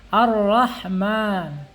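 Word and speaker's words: الرحمن: Kemudian Bismillahirrahman, Hirrahman atau Ar-Rahman ya, di sini harus dibaca tebal rohnya ya, karena diawali dengan hamzah wasal atau alif wasal di sini ya. Ar-Rahman dan rohnya wajib dibaca fathah ketika bismillahnya diwaqaf. Ar-Rahman, tebal tuh bacanya, Ar-Rahman atau Bismillahirrahman.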